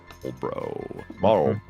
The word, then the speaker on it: Marlboro: Maybe it's because I'm Appalachian trash, but I pronounce the L in Marlboro. Marlboro.